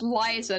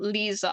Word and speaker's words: Liza: wrong the entire time it's Liza not Lisa I don't know I thought it'd be Lisa but at least she